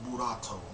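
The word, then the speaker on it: Boruto: in the Japanese as buat you know the English the Japanese pronunciation of the English word bolt you know what I'm saying buat which is you know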